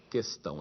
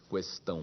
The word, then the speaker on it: questão: E é questão de acordo com os dicionários, não existe trema nessa palavra, portanto esse U não deve ser lido. Questão. É fato também que em muitas regiões do Brasil se pronuncia esse U, questão.